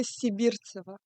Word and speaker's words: Sibirtseva: And today I have with us the lovely and beautiful Sibirtseva. Did I say that correctly? Almost, yeah. Yeah, almost. Always. Can you say it properly? Sibirtseva. Okay, Sibirtseva.